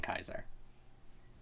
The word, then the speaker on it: Caesar: or whatever but yeah Caesar Caesar is an anglicized version of Latin which does not have